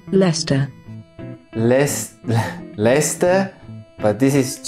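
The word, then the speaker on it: Leicester: is and here's how it should be pronounced lester les lester but this is just because one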